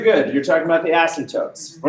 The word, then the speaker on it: asymptotes: you'd say asymptotes but there's a P in there we all just say asymptotes asymptotes and it's a silent P but it's funnier if